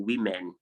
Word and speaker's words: women: gadget blanket target women i did not say woman or women it's women element and then we